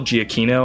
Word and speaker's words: Giacchino: Michael Giacchino, I think, is how you say it.